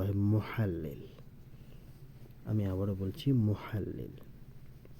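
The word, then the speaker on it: مُحَلِّل: মুহাল্লিল আমি আবারো বলছি মুহাল্লিল এখানে ইংরেজিতে লেখা হয়েছে দালিল আসলে এটা একটু ভুল হয়েছে উচ্চারণটা এটা হবে মুহাল্লিল আমরা বাক্য যেটা মনে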